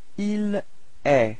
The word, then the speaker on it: est: Okay, and then for il, masculine, il est. So it's quite strange because it does sounds the same as tu, okay, but then there is this final T, but you don't pronounce it.